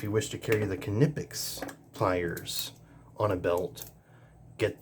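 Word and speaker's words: Knipex: equipment there we'll save those two for last canipix five inch pliers wrench I say canipix because that's how the company themselves pronounce it they even sell shirts I even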